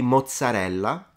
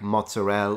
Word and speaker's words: mozzarella: let's try that so this one would be mozarella rather than like mozzarel or matzel you always like pronounce every syllable in Italian next one so yeah